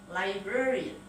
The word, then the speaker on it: librarian: Librarian. Library ditambah dengan n, bukan librarian tapi librarian. An di belakang pun dibaca n dengan e bukan a. Librarian.